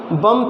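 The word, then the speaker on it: bomb: के जाएंगे तो फिर बम था इसको बी का जो है प्रोनाउन सब लोग नहीं करेंगे इसको क्या करेंगे इसको रिमूव करेंगे या फिर इसके लिए वर्ड उसे होता है उम्मीद करेंगे इसको प्रोनाउंस नहीं करेंगे siomb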